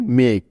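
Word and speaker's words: make: খেয়াল করো, এখানে ই ভাওয়েলটি শব্দের একেবারে শেষে আছে, তাই তার কোনো উচ্চারণ হবে না, অর্থাৎ কোনো সাউন্ড হবে না। এবং এই ইটার উচ্চারণ না হওয়ার কারণে তার আগের ভাওয়েল এ এর লং সাউন্ড হবে এখানে।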